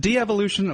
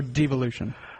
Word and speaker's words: devolution: Is it de-evolution or devolution? I say devolution, but, you know, I'll accept de-evolution if people want to pronounce it like that.